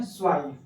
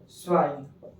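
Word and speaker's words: zwei: तो इसको बोलते हैं दोस्तों हम लोग इंडिया में टू बट जर्मन के लोग इसको बोलते हैं स्वाइ। क्या बोलते हैं? स्वाइ। ठीक है? हल्का ट का भी उच्चारण होगा इसमें।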